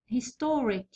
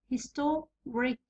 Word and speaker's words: historic: هنا historic الثاني من الأخير هو to. historic historic it's store يعني نسطرهم، هاي اصلا يقول لك سطر عليها.